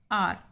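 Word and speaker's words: hour: आर, यहाँ पे H silent.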